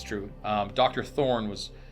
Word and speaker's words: Thorne: Thor Thorn oh there's t h o r n e and there's a a silent E okay okay Thorn thorny